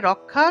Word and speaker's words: রক্ষা: আমরা উচ্চারণ করে থাকি কিন্তু সংস্কৃত ভাষায় আসলে এই খিয় টাকে মূলত এই ক এবং মূর্ধন্য তে ভেঙে উচ্চারণ করা হয় তাহলে উচ্চারণটা কিরকম হবে রক্ষা বাংলায় রক্ষা সংস্কৃতে উচ্চারণ হবে রক্ষা